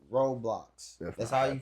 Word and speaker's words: Roblox: All campers that got kids that are watching this, none of them, do not allow your kids to download and play Roblox.